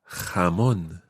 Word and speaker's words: jamón: Let's just take a moment to practice that ch sound, which I know some of our listeners are finding quite difficult because we've had a few emails about the ch sound.